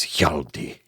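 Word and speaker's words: Hjalti: and he uh he says my name is yaldi and uh that's I just enough breath to spell it for you h h j a l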